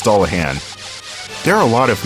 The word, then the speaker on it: Dullahan: And Duran, that's actually a misspelling. It's pronounced Dullahan.